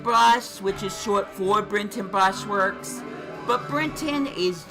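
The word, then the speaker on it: Brinton: But it is spelled B R I N T O N. That's Brenton Brush Works.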